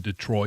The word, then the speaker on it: Detroit: Can somebody tell Elliot that you don't pronounce the I in Detroit it it's a Canadian thing.